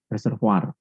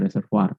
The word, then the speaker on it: reservoir: sebut tandon atau reservoir reservoir harusnya bacanya reservoar tulisnya reservoir tugasnya dari bahasa Perancis yang jadi setiap kali